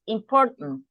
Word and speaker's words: important: Yes, important. It's like we don't pronounce the A here. We don't pronounce the A. So we say it's something like important.